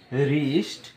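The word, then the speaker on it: wrist: সম্পূর্ণ হিসল বা শীষ ডবলিউ এর পর যদি আর থাকে সেই ক্ষেত্রে ডবলিউটি সাইলেন্ট থাকে অর্থাৎ ডবলিউর পর যদি আর থাকে এখানে ডবলিউ আমাদের সাইলেন্ট থাকে অর্থাৎ ডবলিউ এর উচ্চারণ হয় না এরকম আমরা পাঁচটি এক্সাম্পল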